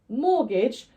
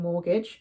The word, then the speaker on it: mortgage: anomaly in this list mortgage doesn't follow the usual rule of a silent T coming after an ass we don't pronounce the T in mortgage but that's something you're